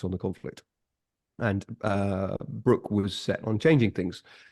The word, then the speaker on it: Broke: I'm from uh Philip Brook spelled broke pronounced Brook um and his ship the Shannon indeed for the rest of his life after this encounter he was known as Brook of the shanon 1812